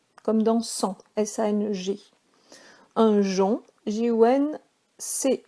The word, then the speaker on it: jonc: Un jonc, J-O-N-C, le C ne se prononce pas, comme dans tronc, ajon.